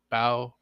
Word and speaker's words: Bao: Bao. That's how you pronounce that weird streamer's name.